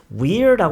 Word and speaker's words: we're: 여러분이 이걸 발음을 하실 때 we're라고 하지 마시고요. 그냥 were라고 발음하시는 게 가장 자연스러워요. 그러니까 여러분 비동사 were 있죠. were 그거랑 발음을 똑같이 하시는 게 가장 자연스러운데요.